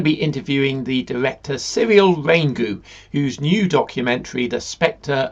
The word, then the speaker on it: Raingou: Have I pronounced that correctly? Raingou? Yes. Very good.